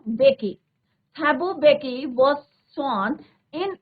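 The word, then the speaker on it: Mbeki: Then थैबो, अब यहाँ पे एम साइलेंट रहेगा बच्चों, बेकी।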